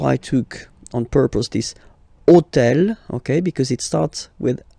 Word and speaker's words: hôtel: And third example, so I took on purpose this hôtel, okay, because it starts with H, but remember that in French we don't pronounce H, okay?